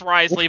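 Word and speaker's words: Wriothesley: that me pronounced I I know it's pronounced Risley but that doesn't sound right I heard I heard it's rosley like Risley doesn't sound correct I don't know they're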